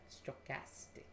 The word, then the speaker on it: stochastic: how do you pronounce that how do you pronounce that stochastic stochastic stochastic all right stochastic basically stands for random they could have used